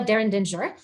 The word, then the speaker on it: Derrendinger: So yes, and I reminded you that there are 3 ways to pronounce it. If you're in America, France, or Germany, they say it very differently. So my Americanized version, my name is Derrendinger, and you've known me